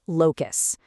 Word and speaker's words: locus: It's pronounced locus.